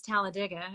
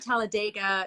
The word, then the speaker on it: Talladega: Yes, so I live in Talladega, and it is Talladega. It is not Talladega. It is not any pronunciation. But if you're going to say Talladega, it's Talladega with like an I.